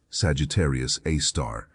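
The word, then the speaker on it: Sagittarius A*: Sagittarius A, pronounced Sagittarius A star, resides in the heart of the Milky Way.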